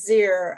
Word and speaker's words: zir: it it is um it's pronounced zir i believe and it it donates